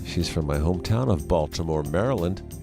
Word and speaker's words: Baltimore: from my hometown of Baltimore Maryland Balmer Maryland is the way we pronounce it back east and macey share some